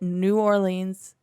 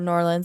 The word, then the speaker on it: New Orleans: one is ensuring that new orleans or new orleans i should say it properly is safe following hurricanes